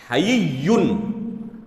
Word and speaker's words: حیّ: اس کے بعد یا مشدد ہے تشدید کے ساتھ، حیّن۔ اور یہ نام جو ہے یہ حیّن ہے۔ اللہ لا الہ الا